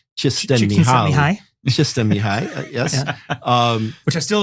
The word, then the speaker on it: Csikszentmihalyi: I'm going to get the last name wrong. Something like Csikszentmihalyi.